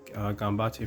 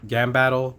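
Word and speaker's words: Gambatte: I also like Gambate for this as well. I don't know if I always pronounce it Gambattle, but I know that's wrong.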